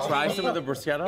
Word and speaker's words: bruschetta: In Italian, CH is always pronounced Oh, really? Okay. So this is pronounced Bruschetta.